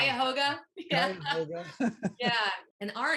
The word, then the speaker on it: Cuyahoga: How do you pronounce Cuyahoga?